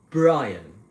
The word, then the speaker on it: Brian: So my name's Brian. Okay? Difficult for Vietnamese people to pronounce because the letter B, as in football,